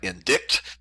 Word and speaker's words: indict: is the word indict it's it looks like indict but it's pronounced indict and when someone is indicted they are simply